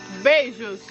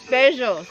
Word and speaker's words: beijo: Beijos Beijos.